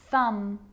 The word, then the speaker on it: thumb: romantically musically logically now there's a rule to remember with the letter b it's always silent when it follows the letter m climb crumb lamb thumb dumb and plummer so practice them with me i'm not pronouncing the b i'm just pronouncing the m consonant sound climb crumb